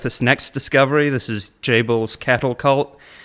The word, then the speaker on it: Jabal: This is Jabal's cattle cult. I think his name pronounced in Hebrew is more like Yaval, but Jabal, we'll go with that for our English-speaking audience.